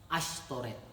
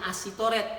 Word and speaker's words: Ashtoret: Tulisannya Asitoret tapi bacanya Ashtoret. Dalam bahasa Ibrani SY, Y-nya tidak dibaca SY. Jadi kalau Shalom kan SYLOOM, tidak dibaca Shalom tapi Shalom. Jadi Y-nya tidak dibaca. Ya. Jadi tulisannya Ashtoret, bacanya Ashtoret walaupun tulisannya ASY.